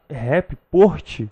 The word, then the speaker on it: rapport: Eu até anotei aqui, eu não sei pronunciar, você me corrige se estiver errado, rapport. Ah, o rapport. Rapport. Sabe inglês? Rapport. Não é inglês, não. É, uai. É francês.